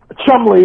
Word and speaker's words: Cholmondeley: names and uh um chumley is like a word like worcestershire or lester you see a lot of english words in england with all these letters and it's three syllables so so that's kind